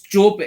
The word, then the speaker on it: Joby: That was Because Joby Carter's. It's Toby, but it's Joby. It's the way it's spelled is Joby Carter.